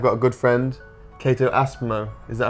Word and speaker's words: Aspmo: Today I've got a good friend, Cato Aspmo. Is that how you say it? Yeah, Aspmo.